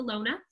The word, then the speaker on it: Lone: In German, you pronounce all of the letters, so it's the Lone.